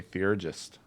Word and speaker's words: theurgist: I remember playing Dark Age of Camelot and playing a theurgist. I hope I pronounced that correctly.